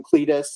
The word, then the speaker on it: Clytus: So first guy here is John Doucette as Clytus, or Cletus. They call him Cletus. It's spelled Clytus in the credits, but it's spelled Cletus like the yokel in The Simpsons, which I'm sure you guys were thinking the whole time.